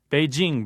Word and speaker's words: Beijing: At MSNBC, there's a dispute over whether the city is Beijing or Beijing. Beijing, by the way, is the most correct pronunciation.